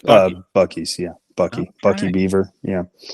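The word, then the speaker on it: Buc-ee's: you know I've never I've never known how to pronounce that I always thought maybe bis but it's bu bies yeah bucky bucky Beaver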